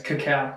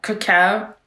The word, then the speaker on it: cacao: this Coco Coco Coco wait cow cow should do it over it's cacao cacao yeah for the lip I